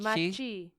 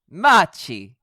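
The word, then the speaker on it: Macchi: Maki is how you say that. Machi? Machi. Yeah, it's Italian. Machi.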